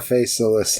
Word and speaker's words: Faceless: It's like the old-timey poetry where they pronounce the EDs at the end of the words. You know, it's like, dissolved. Yeah, you're that's faceless. Right. The E is pronounced.